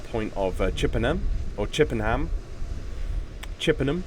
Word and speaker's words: Chippenham: Chippenham, I believe it would be the southern pronunciation of that word, Chippenham.